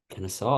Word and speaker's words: Kennesaw: Kennesaw. I was right. That one looked a little You're more complicated. I've never heard of that one before. good. Yeah, this Xavier Kennesaw State matchup favors Xavier heavily, understandably so.